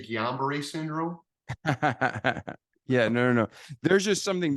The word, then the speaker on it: Guillain-Barré: How do you pronounce it again? Guillain-Barré syndrome. I had some doctors also say Julian Barr.